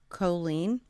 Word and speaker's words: Colleen: And the way that she has said to remember how to say it is the song Jolene, right? So Facebook might get mad at me. But you know the song Jolene, Jolene, Jolene, right? Well, instead of the J sound, we use the